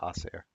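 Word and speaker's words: Ausar: is that how you say his name yeah oair oair Thompson over n and a half rebounds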